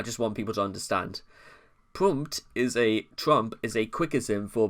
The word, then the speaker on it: Pmurt: He initially pronounced it Pmurt, based on his opinion that the P is silent when the name is said backwards.